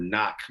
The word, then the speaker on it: knock: It's not like you know like the word knock where the first K is silent.